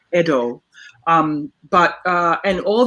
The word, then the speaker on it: Edo: the word edo right it's not ido it's edo um but uh and